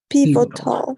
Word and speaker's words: pivotal: The first time you say P, it's only this is only P, pivotal, but the stress is always in the first pivotal, Pivotal. pivotal. Pivotal. Exactly. Pivotal. And if Okay. exactly perfect. If it's the American way, this T changes to D, right?